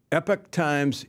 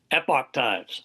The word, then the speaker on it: Epoch: of debate here um epic times epoch times how do you say it epoch times epoch times all right i'm gonna